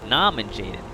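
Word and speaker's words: Norman Jayden: Rounding out the list is Norman Jaden, or as he pronounces his own name, Naman Jaden, as in nom.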